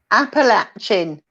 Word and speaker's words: Appalachian: it says Appalachian yes and that's how you pronounce it Appalachian okay and where I come from lovely uncounty